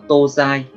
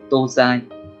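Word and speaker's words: 東西: Cách đọc của nó là tô dai, tô dai.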